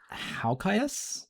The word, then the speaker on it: Halkias: Sorry, how did you pronounce his surname? Halkias? It's just Halkias.